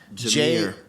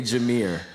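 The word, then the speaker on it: Jahmyr: jameer jamir that okay i'm gonna spell this and i can you'll probably say i know what racy is but j-a-h-m-y-r what's his name y'all what's his name is the pronunciation of that homie's name in the comments section i say jamir uh florida state lsu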